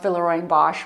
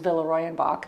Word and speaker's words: Villeroy & Boch: a lifelong dream to do a collaboration with villarroy and bosh follow me so villarroy and bach or otherwise pronounced villarreal bosch but in germany the real pronunciation is villarroyanbach has been around since the 1700s now this